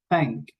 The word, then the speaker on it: thank: It's not an F, it's not a T, it's not a D, it's thank, thank. You have to pronounce that sound with your tongue, with your tongue touching your teeth, no?